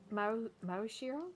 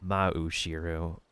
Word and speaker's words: Maoshiro: Like, it's not really, like, common to, like, have an ah-oo sound next to each other without a consonant between. Maoshiro? Or? Mao-shiro. Or you can, like, say, like, Mao, like, Maui? But it's, like, a little bit too smooth because, like, how rhythmic Japanese is. It's, like, a separate sound after another.